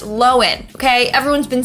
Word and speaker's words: Lohan: last name is pronounced lowen okay everyone's been saying lohan for years but it was recently revealed that we're wrong it's lowen not lohan anyways the downfall of